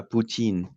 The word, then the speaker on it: poutine: because in Quebec, how they pronounce it in French is the poutine, right? Poutine. So it sounds too similar to Putin.